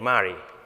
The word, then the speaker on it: Mari: So it's pronounced just like him, name Mari.